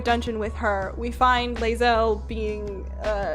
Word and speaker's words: Lae'zel: character whose name I never remember how to pronounce. Chat, save me. But the 3 of you escape. Lae'zel, cannot take hints. Lae'zel, I think is how we say her name.